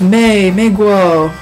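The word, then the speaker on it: 美国: the bus and was very interested oh Americans May Meo Meo is how you say American in Chinese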